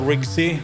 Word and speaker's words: RigC: uh for that demonstration this system is called Ry it's spelled rigc and it's something that I'm working